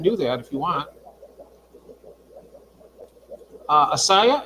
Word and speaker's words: Assiah: Asaya, it's spelled Assiah, but I know who you're talking about.